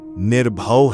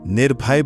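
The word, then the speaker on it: ਨਿਰਭਉ: निर्भव भय से रहित उच्चारण निर्भव है। इसे सुविधा से निर्भय बदलकर नहीं पढ़ते।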